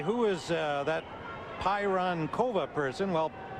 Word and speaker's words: Pironkova: score you would say who is uh that pyron kova person well pironkova is how you say her name and right